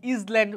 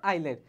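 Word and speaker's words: island: আর ও ইউ আর O Yuji H এলওয় রাফলি ফ্লট আইল্যান্ড আইল্যান্ড মানে দেখ ইজ্যান্ড উচ্চারণ কিন্তু এ উচ্চারণ সঠিক উচ্চারণ কি আইল্যান্ড হচ্ছে ইজ্যান্ড উচ্চারণ হচ্ছে আইল্যান্ড অনলি এভ অনলি এভ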